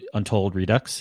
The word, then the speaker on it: Untold Redux: The next one, Untold Redux. Is that how you guys pronounce it?